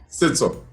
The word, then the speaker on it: Setso: Is that the correct pronunciation though? It's all. Sito.